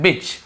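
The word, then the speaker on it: bitch: कुत्ता डॉग, और उसकी जो फीमेल होती है कुत्तिया जिसे हम बिच कहते हैं, बिच, यहाँ पर भी टी साइलेंट होता है, बिच।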